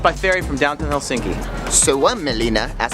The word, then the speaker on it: Suomenlinna: Suomenlinna, as it's pronounced, is a UNESCO World Heritage Site that